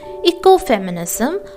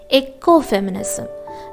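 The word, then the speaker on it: ecofeminism: on bsog173 that is eco-feminism a feminist critique of development very often i have seen students pronouncing this particular term as eco-feminism dear learners the right pronunciation is eco-feminism eco-feminism all right so eco-feminism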